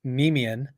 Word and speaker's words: Nemean: Yeah, slight correction on that. So it's Nemean, Oh, Nemean nice. pride, Okay. and that's the name of the lion in Greek mythology, the Nemean lion.